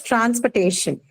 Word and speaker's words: transportation: Then next is transportation. Second, Transportation. second last syllable. Penultimate syllable. Correct. Correct. Stay. Ta- Okay. Yeah. Right. Correct. Stay is the one that takes the stress. The second last syllable.